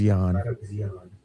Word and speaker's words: Jahn: It's spelt Jahn, so it could be John, but I thought it was Yan.